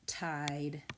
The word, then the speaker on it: tide: I see our pattern, one vowel, one consonant with a silent E at the end. Tide.